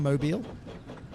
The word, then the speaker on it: Mobile: Hardcore Holly's from Mobile. Don't get me wrong I hate the pronunciation. It's spelled mobile like mobile phone but you know.